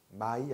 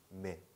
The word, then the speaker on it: mais: 아 더하기 이는 에. 그래서 mais라고 읽으시는 거예요. my 아니에요. mais. 아시겠죠? mais. 그리고 여기 있는 s는 끝에 오는 자음이니까 발음 안 하는 거죠.